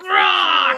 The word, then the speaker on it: ROC: Rock! $25. I think he told me it's Mr. ROC. It's not actually Mr. Rock.